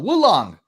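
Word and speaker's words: Wo Long: all right uh now this game is actually pronounced let me see if i can sit like my wife says woo long boo long so wulong ah fantastic looking game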